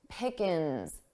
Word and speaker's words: pickings: For pronunciation, notice how pickings sounded quite unstressed. Pickins, ins. So I dropped that ing, I dropped that G sound from the ing.